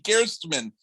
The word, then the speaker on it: Gerstmann: said it guessed, man, my dad said that's the actual German pronunciation. It's supposed to be Gerstmann. So the last time you said it the exact way my dad wanted it to be said.